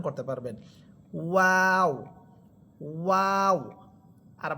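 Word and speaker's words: واو: যে সাউন্ড বা শব্দটা বের হবে সেটা হচ্ছে ওয়াও। প্রথমে দুই ঠোট গোল করবেন। এরপর দুই ঠোট ছড়িয়ে দিয়ে আবার সংকুচিত করে নিয়ে আসবেন। তখনই আপনি ওয়াও হরফটা সুন্দরভাবে উচ্চারণ করতে পারবেন। ওয়াও ওয়াও আর বা হরফ এটা দুই ঠোটের ভিজা অংশ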